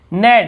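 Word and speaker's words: knead: नेड, नेड यानी होता है गूंथना, आटा गूंथने को नेट कहते हैं।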